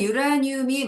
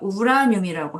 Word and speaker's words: 우라늄: 발음에네 발음은 유라늄이 맞을 수도 있는데요. 교수님 이게 뭐 한국 뭐 한국어 표준 국어 사전에까지 올라가 있지는 있는지는 모르겠는데 한국 화학에서 외국어 표 그 원소들의 표준 발음을 정해 놓은게 있어요. 예. 그렇죠. 거기에서는 유라고 표시를 안 하고 그냥 우라늄이라고 하는게 맞아요.